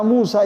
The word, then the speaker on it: Musa: Kata Musa itu dibaca panjang ya. Musa mad asli semua itu ya.